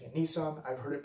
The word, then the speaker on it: Nisan: So I will continue to use Nissan as my pronunciation. I will acknowledge there are other pronunciations out there.